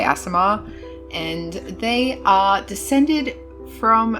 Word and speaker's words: Aasimar: let's get started now the official way to pronounce Asmar is wait for it Asar aamar but I feel like an idiot saying it like that so I'm just going to say asamar and they are descended from a Celestial being